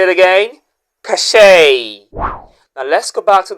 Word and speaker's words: cachet: And our second word, that word, the letters e t at the end sounds a and the stress should be on the first syllable.